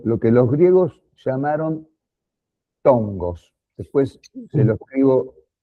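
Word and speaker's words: φθόγγος: que los griegos llamaron tongos. Después se lo escribo, porque se escribe P-H-T-H-O-N-G-O-S, tongos.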